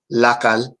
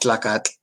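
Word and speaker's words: tlacatl: Jalisco variant, but this is actually pronounced Lacal, and not Tlacat. he just utilizes the TL. So sometimes once you see the resource, you need to go to the book or purchase the book or find it and then read on the how the words were pronounced. He just used the TL for historical purposes.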